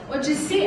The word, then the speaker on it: Odissi: Odissi é como se fala O-D-I-S-S-I.